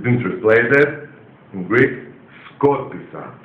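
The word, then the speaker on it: σκόρπισα: Yes, in Greek, write down, been translated, skorpisa. Scattered, past tense in Greek language. Scattered, English. It's been translated in Greek, skorpisa.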